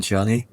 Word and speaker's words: Ciani: I would go with C, Suzanne Ciani. I'm probably going to get butchered in the comments for saying her name wrong. Is it Suzanne Ciani? Okay, good.